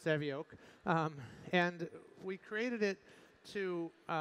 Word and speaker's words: Savioke: you know it looks like karaoke but it's pronounced Sammy oak and we created it to build robots to